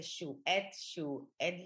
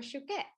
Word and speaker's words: Chouquette: People say Chouette, like they just can't. And it, so Chouquette is a French pastry.